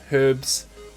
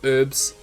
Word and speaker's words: Herbs: great check them out herbs or herbs depending on how you pronounce the word h-e-r-b-s and sensitive to